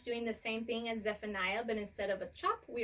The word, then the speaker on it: Zephaniah: is FN ayah so Zephaniah has three syllables in his name when we say his name it sounds like Zephaniah so we are going